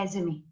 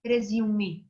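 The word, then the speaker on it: résumé: और आप लोग जो है कुछ लोग उसको प्रोनाउंस पता क्या करते हैं, कुछ लोग कहते हैं रेज्यूमे, जबकि वो भी ठीक है, लेकिन मैं आपको सजेस्ट करूंगी कि आप उसको रेज़्यूमे बोलेंगे। अब आप यहाँ पर आपको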